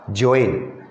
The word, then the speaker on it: Joanne: तो अगर जो लोग वहाँ याद रखे होंगे, देखे होंगे, पढ़े होंगे, तो ये पकड़ लेंगे कि ये स्पेलिंग था JOANNE और इसका प्रोनाउंसिएशन था जोइन, और ये उसकी 4